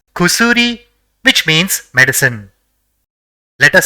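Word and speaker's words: くすり: So it will be pronounced as kusuri, which means medicine.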